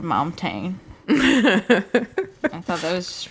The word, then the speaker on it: Montaigne: Maddie wrote, he posted a song by, how do you pronounce her name? Montaigne? Yeah, Montaigne.